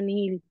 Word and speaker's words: nihil: En latín se escribe nihil y se dice nihil.